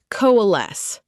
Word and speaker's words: coalesce: Coalesce. Pronounced co-a-les.